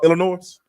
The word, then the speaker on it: Illinois: because I love you I'mma ask you to never pronounce the s in Illinois again that's it go ahead